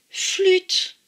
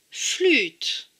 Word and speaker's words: flûte: Le U se prononce toujours U, même avec un accent circonflexe. Donc, là, on voit bien la lettre U. D'ailleurs, ce mot se prononce flûte. Flûte.